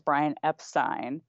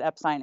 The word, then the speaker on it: Epstein: the manager's name is Brian Epstein and Brian the camera's on his face he doesn't even blank nothing so here's the thing his close colleagues and his friends said epine in his presence obviously